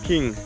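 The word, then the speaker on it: Kinh: So the majority of Vietnamese are King or Kin, how they pronounce? Yeah. King.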